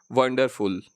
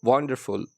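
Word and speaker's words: wonderful: तो उसमें जो स्ट्रेस सेलेबल है वो थोड़ा बोल्ड लेटर में लिखा हुआ है, तो वंडरफुल। आप सही प्रोनाउंसिएशन, अगर आप इसे वंडरफुल ना बोलें, ठीक, वंडरफुल, तो वंडरफुल में वन पर स्ट्रेस है।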